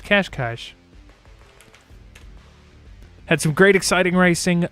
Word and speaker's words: Cascais: I know it's spelled with no H's, but I looked up extensively to make sure I did not mispronounce it this evening. And sure enough, it's Cascais.